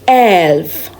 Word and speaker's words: elf: 11 is elf.